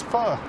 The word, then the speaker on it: pho: named Faux OK. I'm sure someone will pronounce or correct my pronunciation saying it's pho, not faux.